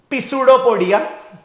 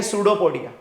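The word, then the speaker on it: pseudopodia: हम उसे लिखते हैं पिडो पोडिया ठीक है लेकिन यह पिडो पडिया नहीं है यह है सूडो पोडिया similarly this is डेरिया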